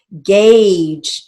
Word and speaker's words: gauge: Gauge. Now gauge is a long A as well, so we're going to write that as initial G for the G sound.